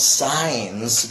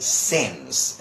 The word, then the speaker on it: since: for and signs and I keep telling them it since it's not science but since okay so that one